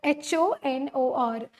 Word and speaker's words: honor: word honor for example is a consonant horor h o n o r hor honor we pronoun pronounces it pronounce it as honor okay all